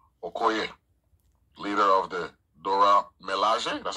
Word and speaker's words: Milaje: And Gurira plays Okoye, leader of the Dora Milaje. That's how you pronounce it? Yes, Milaje. the Dora Milaje, you got it.